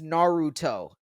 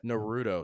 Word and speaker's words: Naruto: I was a kid it's Naruto so for real when I say it that way it sounds like I'm saying it wrong because I've called it Naro since I was a